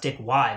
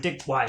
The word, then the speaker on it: Wei: Like, Dick Wei I think it's pronounced Dick Y, but I'm like so set in my ways.